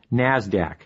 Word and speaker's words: NASDAQ: Stock Exchange nysse and the NASDAQ which is pronounced NASDAQ NASDAQ stands for the National Association of Securities